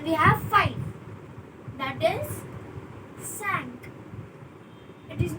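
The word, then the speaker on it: cinq: That is sank. It is not sink. It is sank.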